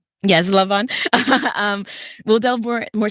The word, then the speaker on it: Laban: more specifically into Oh gosh, I'm going to mess up the pronunciation into the um Leon. Yes, Lavon.